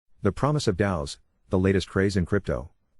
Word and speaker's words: DAO: which stands for decentralized autonomous organization and is pronounced dao is an increasingly popular term in the world